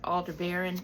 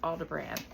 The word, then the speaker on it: Aldebaran: Some people pronounce it Aldebaran, but I think it's called Aldebaran. Okay, and the Aldebaran were